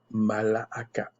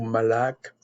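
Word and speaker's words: מלאך: Malaaka. C'est encore comme messager. Ange. Malaaka. Ou malak. Malak. Ça dépend comment vous prononcez.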